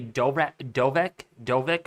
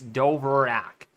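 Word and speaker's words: Dvorak: However, some people say Dovek, or Dovrak. I say it like this, Dovrak. See, D-V-O-R-A-K, Dovrak, which means, again, it's used for that reasoning for satellite intensity estimates.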